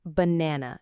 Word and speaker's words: banana: Let's take the word banana as an example. It has three syllables, ba na na. Notice the middle syllable is stressed. It's longer and stronger, banana.